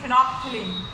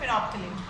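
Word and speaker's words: phenolphthalein: तो आप एक बार देख लीजिए, फिनॉप एल साइलेंस है, थलीन, फिनोप्थिलीन, ठीक है। बट इसको जल्दी जल्दी से बोलेंगे तो फिनोप्थिलीन।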